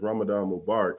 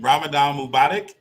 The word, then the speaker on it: Ramadan Mubarak: the pride excuse me the proper greeting is ramadan mubarak it means bless ramadan but uh say it one more time so i can say it properly ramadan mubotic mobotic yeah yeah there you go say less so um